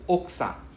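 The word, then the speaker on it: 奥さん: Oksa. Oksa. You realize I don't say the U, I don't pronounce the U, it's silent.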